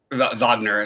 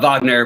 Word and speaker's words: Wagner: really like loved wagner wagner sorry i'll pronounce his name right uh wagner but the problem is